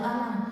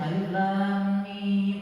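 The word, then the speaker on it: الم: alif lam dengan mim itu kan umumnya alam taro alam Nasr itu dibacanya selalu alam tapi Rasul langsung menyebutnya Alif Lam Mim akhirnya semuanya fokus fokus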